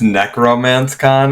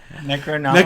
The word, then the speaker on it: Necronomicon: Um before I start scene 14, is this Necromance Con? I just wanted to make sure that I pronounced this correctly. Necronomicon. Necronom Necronomicon. Necro Necronomicon. Okay.